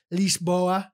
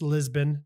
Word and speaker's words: Lisboa: portugal i've been to lisboa that's how they say it's lisbon to the americans uh lisboa cascais scott